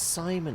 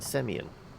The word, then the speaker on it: Simon: Oh, it's pronounced Simon, is it? I was saying Semyon.